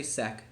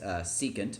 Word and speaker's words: secant: secant SEC of theta we don't say SEC we say s secant but we write SEC theta and cotangent okay so